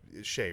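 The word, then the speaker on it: Shae: Well, it's because it's spelled different than, like Shea Stadium or whatever. It's flipped. It's AE instead of EA.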